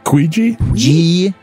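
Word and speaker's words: Guigi: Guiji? G-U-I-G-I, like Luigi with a G.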